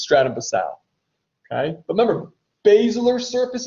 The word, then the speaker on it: Stratum Basale: Now listen, that's how I pronounce it. And I pronounce it like that phonetically so you know that there's a silent E at the end. Technical way to, I don't want you guys to think I'm an idiot. All right, but the proper way to pronounce it is Stratum Basale.